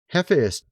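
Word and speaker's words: Hephaestus: They're kind of like robots forged by Hephus. That's how you actually pronounce the word.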